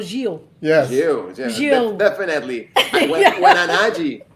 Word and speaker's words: Gil: pronunciation of your name so i said you know pablo gill i said pablo hill but i think the winner is the brazilian pablo gio yes you yeah definitely